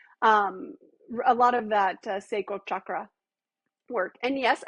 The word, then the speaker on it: chakra: A lot of that sacral chakra work. And yes, I say chakra because I studied Hinduism in my master's program, and that's how you say it. Come to find out, not chakra, but chakra.